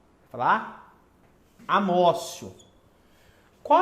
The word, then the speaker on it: amotio: É porque no latim o T pronuncia como C.